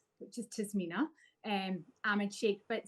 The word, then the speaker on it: Tasmina: Adam and Kate I'm gonna start with the pronunciation of my own name which is tmina um am and Shake but definitely I know